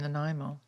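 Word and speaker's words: Nanaimo: was and uh in the Pacific Northwest in Naimo. Naimo. Wow. Excellent pronunciation by the way.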